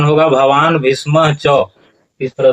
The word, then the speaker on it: भीष्मश्च: यहाँ पर उच्चारण करते हैं भवान भीष्मश्च, तो इस तरह से भवान भीष्मश्च उच्चारण नहीं होगा, उच्चारण होगा भवान भीष्म च।